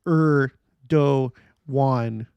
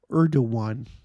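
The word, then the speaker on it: Erdoğan: read this out loud erdogan is pronounced er do one okay Urdu one yeah you know because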